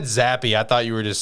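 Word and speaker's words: Zappe: remember that name but you do know it's actually pronounced zappy right zappy it's actually pronounced happy i always thought it was zap i'm a terrible fan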